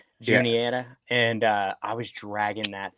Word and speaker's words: Juniata: What's the Juniana? How do you pronounce it? Yeah. Juniata, and I was dragging that thing up those ledges and stuff, man.